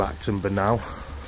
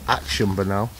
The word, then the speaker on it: Acton Burnell: We're going to head in to Acton Burnell, or Action Burnell, as I kept pronouncing it, as I've said.